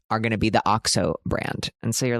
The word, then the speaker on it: OXO: OXO is that brand that is OXO that I always thought was pronounced OXO until I heard somebody pronounce it as OXO.